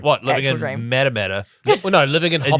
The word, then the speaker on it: Matamata: Matamata? Well, no, living in Hobbiton. New Zealand. Living in the Shire. For those international, Hobbiton, where it was filmed, is in Matamata, New Zealand. Or Matamata, it's pronounced in New Zealand.